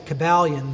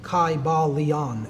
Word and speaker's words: Kybalion: Greek language in which there was no like short y sounds you know it would have been a long I sound Kai ba Leon and every syllable would